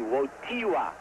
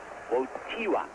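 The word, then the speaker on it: Wojtyła: name yet for Stila it's wotty wot wotty wotty wot the accent is on the tee won't Tiwa although you spell it woj di la whoa Tiwa my polish friends have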